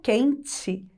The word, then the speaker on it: quente: Então, dá a impressão que eu falo quente com a letra I, não é verdade? Pois é, mas na hora de escrever, letra E. Então, só para lembrar, a última sílaba é a mais forte? Então, se escreve com a letra E, certo?